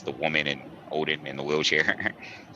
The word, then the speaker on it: Odin: it's the woman and odin in the wheelchair right oh woeden as it would be pronounced in in their tongue but yeah i love